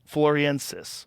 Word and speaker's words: floresiensis: that's how you say it floor so essentially floriensis homo floriensis wow so there was multiple types